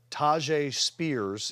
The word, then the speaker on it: Tyjae Spears: Tyjae Spears is the correct way to pronounce it.